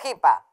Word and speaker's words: hippia: y su compañera la hipa. Recuerden, se escribe hippie e hippia, pero se pronuncia hippie y hipa.